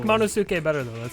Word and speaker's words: Monosuke: I guess Manusuke is the way to pronounce his name. We've been saying Monosuke. Oh. I like Monosuke better though.